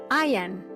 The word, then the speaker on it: Ian: puede disfrutar en español, Ian, no se dice Ian, claro, en español lo habremos oído como Ian, pero es que no es Ian. Si lo pronunciamos en inglés es Ian. Y Ian es muy parecido a decir I am.